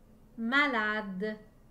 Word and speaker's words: malade: a d e malades dans le mot malades j'entends chaque lettre sauf le e à la fin la lettre e et muette malade malade écrivez le mot